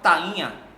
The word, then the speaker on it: tainha: A palavra tainha. Tainha, percebam que o tainha, o I, ele se torna uma vogal, por ser forte na sua forma pronuncial.